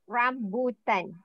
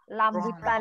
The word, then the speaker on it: rambutan: I to pronounce it rambutan R ran yes chinae Student please okay please practice your capital capital letter r rambutan ah because always lamban lamb rambutan okay sometimes sometime rambutan